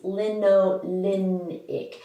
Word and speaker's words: linolenic: is to note that the l in a l a is for linolenic it has an n in the third syllable it's linolenic that's important simply because there's an omega-6 fatty acid that has the very same name without the n it's linoleic you want to stick with the n the problem with fish